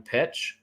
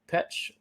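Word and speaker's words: Petsch: We'll say Lily Reinhart and Camila Mendez and Madeline Petch. Is that how you say it? Petch, yeah.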